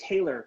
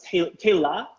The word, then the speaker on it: Tayla: And like I said, just like Taylor, a lot of people, I always say Taylor, but I know it's Tayla, right? That's how you say it, right?